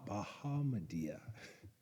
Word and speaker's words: Bahamadia: Bahamadia. Bahamadia.